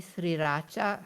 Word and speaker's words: sriracha: Southeast Asia say it properly, sriracha.